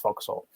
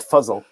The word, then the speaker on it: Foxhole: further down the road there's another one called foxhole uh that is pronounced foxhole you know it's not fuzzle are they i wonder